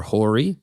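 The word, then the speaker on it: Hoare: individual shareholder called Brian I hope I'm pronouncing his name, H O A R E, or Horry. The notion is that um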